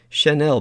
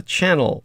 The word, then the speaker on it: Chanel: had purchased herself a Chanel bag and uh and V had to teach her how to say it because she called it a channel bag which was really cute um anyhow of course